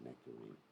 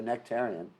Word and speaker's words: nectarian: People don't like it when I say nectarine. They think that means a fruit. Some people pronounce it like that. So nectarian, even though it may have been poison.